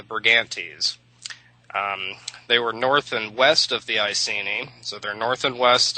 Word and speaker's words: Brigantes: with that annoying ES ending pronounced E's, the Brigantes.